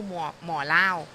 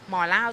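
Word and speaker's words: หมอเล่า: ว่า ถ้า เป็น ภูเก็ต ภาษา จีน ฮกเกี้ยน เนี่ย ก็ คือ หมอ เหล้า มัน จะ ออก เสียง อย่าง นี้ นะ คะ หมอ เล่า ตัว นี้ นะ คะ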